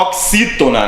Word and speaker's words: oxítona: É só quando ele tiver essa pronúncia de KS. Olha o exemplo da palavra tóxico, né? Tóxico. Na palavra oxítona, né?